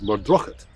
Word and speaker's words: Muirdroch: There's a place up in Carsfern Parish which looks like it's called Muirdroch Wood, but the local pronunciation is Murdrochet.